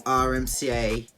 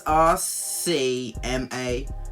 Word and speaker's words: RCMA: It with some RMCA. So I am confusion. Oh well, fuck it, I've been pronouncing this wrong the whole time. It's RCMA powder, the fucking...